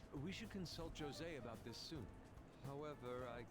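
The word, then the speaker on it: José: right we should consult jose about this soon however i can feel my appetite growing after describing my idea saying it's jose not jose the j is silent it's like an it's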